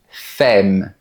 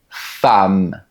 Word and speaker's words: femme: Quand tu vois ce mot, tu pourrais penser qu'on dit "fème". Mais non. On dit "femme". La lettre E se prononce comme un A.